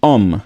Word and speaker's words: homme: There is no sound of home in French. So it would be homme.